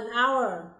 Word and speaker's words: hour: Hai ví dụ còn lại, an honest person, an hour. Khi chúng ta phát âm thì âm hờ là âm câm.